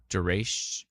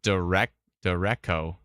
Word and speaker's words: derecho: Duration. Oh, cho? Chow? Duration chow? I've always pronounced it Dureco. No, it's Duratio.